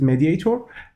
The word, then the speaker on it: MediatR: have a mediate R let's pronounce it mediator and mediator extension Microsoft